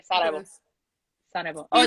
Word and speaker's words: Sarajevo: And so I was in Sarajevo for. By the way, that's how you say Sarajevo.